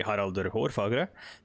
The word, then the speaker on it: Harald: or fair hair sorry i pronounced the english name in the norwegian or norse norwegian uh way but uh no it would be harald but why is harold fairhair's existence sort of